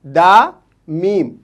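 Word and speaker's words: دام: दाल, अलिफ, दा और लाम, दाल, दाल, अलिफ, दा, मीम, दाम।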